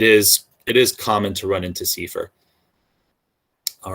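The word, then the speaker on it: CEFR: first acronym that you may run into is seifer it's not kefir i don't i mean maybe somebody pronounces it keffer but i've only heard it pronounced sifer that's the common european framework of reference for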